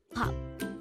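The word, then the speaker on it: 밥: used in a meal is Bob again it's pop this is pronounced as one syllable word this is composed of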